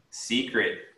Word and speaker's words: secret: okay yeah technology technology secret you want to pronounce that e like the letter e okay secret right make sure you're emphasizing that first syllable okay thank you secret